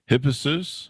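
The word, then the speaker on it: Hippasus: back from the fifth century bc murder of hippessus am i pronouncing that oh yes yes yes i say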